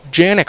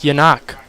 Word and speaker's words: Janik: Calling him Janik for most of the season until he dropped the bomb on us that it's actually Czech, and it's pronounced Yanok.